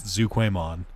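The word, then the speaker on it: Zhuqiaomon: And then Zuquay, it's spelled weird, but it's Zuquaymon. The Suzaku, the Phoenix.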